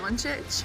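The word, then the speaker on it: Dončić: his name you got it you had it donic yeah you got it I'm the worst of pronouncing names okay I'll trying to be serious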